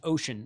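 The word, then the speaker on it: Wouxun: It's actually pronounced Ocean.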